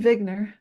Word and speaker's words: Wigner: vogner vogner Bubble Eugene vigner yeah so it's it's spelled like wigner but I'm pronouncing it the German Way you know that's what yeah so is it is it basically uh vigner is basically saying we